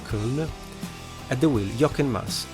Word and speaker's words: Köln: Maybe the right pronunciation in German should be Köln.